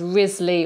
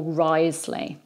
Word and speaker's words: Wriothesley: And by the way, his surname is spelt Wriothesley, starting with a W, but it's pronounced as Wriothesley or Wriothesley.